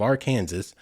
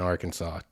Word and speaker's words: Arkansas: I just committed, I don't know if it's a misdemeanor or what, but that is a crime in Arkansas to pronounce it Arkansas.